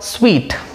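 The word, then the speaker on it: suite: next is suit pronounced it is called sweet sweet means set of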